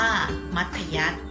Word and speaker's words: มัธยัสถ์: และ ขอ ถุง เครื่อง หมาย ทัณฑฆาต อ่าน ว่า มัธยัสถ์ เรา จะ มี หลัก การ จำ ยัง ไง